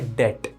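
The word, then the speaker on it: debt: नहीं नहीं नहीं नहीं, बी साइलेंट होता है, ये पढ़ा जाता है बैड डेट।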